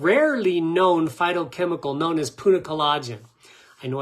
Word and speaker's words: punicalagin: very special and rarely known phytochemical known as Punic colagen I know it's hard to say punicalagin let me see if I can spell it for you uh p u n i